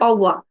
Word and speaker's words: au revoir: See, it is written like RAVOIR, uh, but because the R sound is so different in French, it's pronounced as au uvoa. or wa. Okay. Yeah, so when you say it very close together, when you hear French people saying it almost sounds like au revoir.